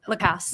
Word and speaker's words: Lacasse: I'm sorry, how you pronounce it? Lacasse.